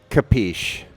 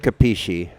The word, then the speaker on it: capisci: Or is it capisci? I think it's capiche is how they say it in the gangster movies. They do. I think that's the southern pronunciation. In the north, they'd say capisci.